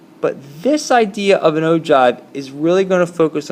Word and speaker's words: ogive: this idea of an ove is really going to focus on the cumulative frequency and in ogive even though it looks like o give is spelled like this is really nothing more